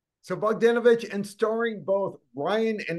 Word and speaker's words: Bogdanovich: look behind me I've had to practice pronouncing that name yeah so many times in preparation yeah it is bogdanovich so bogdanovich and starring both Ryan and his daughter Tatum